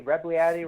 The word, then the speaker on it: Rebagliati: It rhymes with fatty. Rebagliati rhymes with fatty, right?